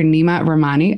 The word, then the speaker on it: Nima Rahmany: Nima Rahmany. I hope I'm pronouncing your name correctly.